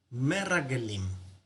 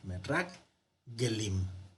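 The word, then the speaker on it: מרגלים: Rag, donde cierra, aquí, porque tiene el Dagesh fuerte, entonces significa que se duplica. Merrag Gelim. Bueno, ahí está.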